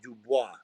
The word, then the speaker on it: Dubois: and said daniel dubois he said it's pronounced dubois like what i said that god